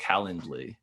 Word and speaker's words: Calendly: Calendly.